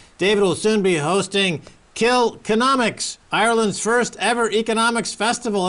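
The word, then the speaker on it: Kilkenomics: Economist David McWilliams David will soon be hosting kill economics Ireland's first ever economics Festival am I pronouncing that correctly David you are absolutely Max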